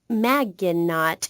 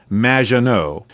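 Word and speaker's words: Maginot: have mispronounced my name it's Madge which rhymes with badge uh as in duh and no as in more than you Maggiano anyway thank you for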